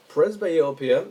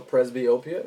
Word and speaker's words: presbyopia: that in a bit presbyopia or presbyopia as is pronounced in both ways is basically the loss